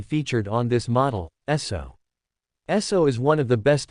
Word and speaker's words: Esso: So is one of the best known fuel brands in history. The name SO comes from the pronunciation of the initials so meaning standard oil.